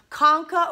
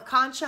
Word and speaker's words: concha: there you can see our Conca or Concha however you want to pronounce it there's a superior middle